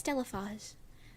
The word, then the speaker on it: Stellof: I know that's not how your name is pronounced. I know it's Stellof, but Stella sounds.